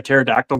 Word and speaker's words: pterodactyl: Which reminds me, do you guys know why you cannot hear a pterodactyl go to the bathroom? Because the P is silent.